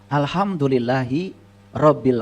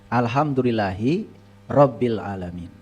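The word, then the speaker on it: الحمد لله رب العالمين: Saya membacanya suka dipisah, Kang Yudi. Alhamdulillahi Rabbil Alamin. Karena banyak yang membaca Alhamdulillahi Rabb. Sedangkan hirob sendiri dalam teks bahasa Arab itu artinya perang.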